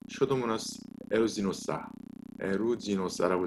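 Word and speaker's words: Pseudomonas aeruginosa: 그 중에서 이 농농균 중에서 가장 중요하게 생각하고 있는 게 바로 이 슈도모나스 에루지노사라고 제가 써놨죠. 발음이 명확하지 않아서 이렇게 읽으면 됩니다. 슈도모나스 에루지노사.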